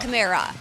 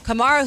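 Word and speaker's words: Kamara: Is it It's not Yeah, it's Kamar. Alvin Kamar. Not Chimera.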